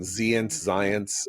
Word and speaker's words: Zients: I don't know how to pronounce his name, Zients. But she said that I think it rhymes with science.